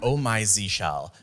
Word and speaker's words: Oh My Zsh: And yes, it's pronounced Oh My Zsh Shell, not Oh My Zsh.